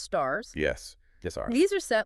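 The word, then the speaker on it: SSARS: Okay, next up we have the statements on standards for accounting and review services or SRS often pronounced stars.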